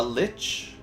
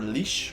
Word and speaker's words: lich: It should be higher once you become a lich, or leash, however you want to pronounce it.